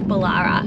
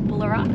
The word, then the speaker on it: Bullara: but that does mean we have to leave bolara and we're so sad honestly and a bit of confirmation it is pronounced bolara not bullara we've heard so many different pronunciations of like